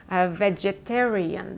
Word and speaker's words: vegetarian: Vegetarian, because it has 5 syllables. The accent is falling on the 3rd syllable, vegetarian.